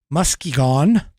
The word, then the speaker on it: Muskegon: is corrupt and uh oh thank you Muskegon Muskegon is the pronunciation um but anyway um they have already